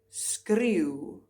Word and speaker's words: skreeu: Skreeu, skreeu, scream.